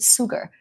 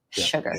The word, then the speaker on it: sugar: but this word isn't sugar, isn't it? It isn't with an S, it's with a sh sound, sugar. Sugar.